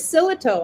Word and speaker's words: Sillito: My last name is Sillito, actually, just how it's spelled.